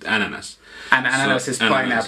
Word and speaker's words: NNS: In Finnish we pronounce it ananas.